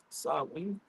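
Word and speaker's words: Samhain: Sam Hayne are pronounced sen.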